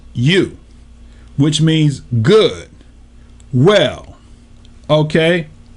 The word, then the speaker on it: eu: Right now, 2095 is EU, pronounced you, which means good, well.